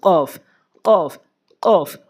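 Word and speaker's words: ق: খ ল্যাম কফ, কফ কোথা থেকে উচ্চারণ করবেন? কফ জিব্বার গোড়া উপরে তালু, কফ কফ কফ।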